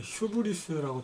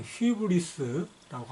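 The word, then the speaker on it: ὕβρις: 그리스의 암흑시대에 관한 설명에서 거기 보시면은 우리 책에는 지금 154쪽 중간에 휴브리스라고 되어 있는데 그리스 발음으로는 휘브리스라고 하는 게 적절하다고 하겠어요.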